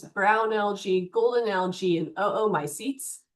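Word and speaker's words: oomycetes: Our stminopiles are datoms, brown algae, golden algae, and oo my seats. You'd say both O's. You could say my seats, but remember we want to pronounce every vowel. So, oo my seats.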